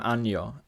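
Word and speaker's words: año: right now is the palatalization of the Latin double n and L and for example ano which we kind of know when the phrase anno domini means Year in Spanish I became anyo and Latin kabbalos became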